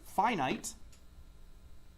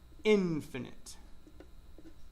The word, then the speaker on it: finite: There are finite, okay, and there is infinite. And don't ask me why I pronounce one finite and the other infinite. That's what my understanding is how they're supposed to be pronounced.